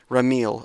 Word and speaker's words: Ramil: Let me just double check that pronunciation. Rile. Ramil.